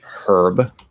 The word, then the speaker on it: herb: some strange reason uh say herb like they'll actually pronounce the um the h in in herb and most americans don't we say herb we ignore the age um then of course